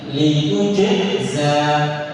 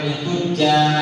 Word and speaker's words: لتجزى: Nah, pisahkan antara jim sama zai. Litujza. لتجزى. Bedakan makhraj jim sama makhraj za. Jadi bacanya litujza. لتجزى. Sampai litujja atau lituzza. Nah, harus jelaskan jimnya, jelaskan huruf zai.